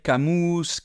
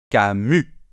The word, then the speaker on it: Camus: Non, on ne va pas dire Camus, non. Camus. On ne prononce pas le S final, s'il vous plaît. Et le U, on le fait bien comme un U.